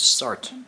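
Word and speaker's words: Sartre: was my first crush pretty sure it's sart actually the way it's pronounced have you considered your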